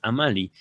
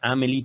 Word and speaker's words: Amalie: O no sé si es Amalie. Pensaría yo que también se podría pronunciar Amelie, pero no, son al parecer nombres distintos.